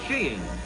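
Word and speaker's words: skiing: of winter sports is sheing and seeing is the correct pronunciation they tell us yeah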